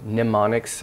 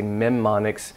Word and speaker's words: mnemonics: that you'll see sometimes it's mem onyx or mnemonics actually usually the M is silent some people say mem monix so in in at